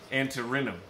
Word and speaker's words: Antirrhinum: How do you pronounce this? Snapdragons. This is snapdragons? Yeah. Antirrhinum.